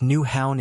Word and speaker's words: Nyhavn: NY Haven its pronounced new Hound in Danish is one of copenhagen's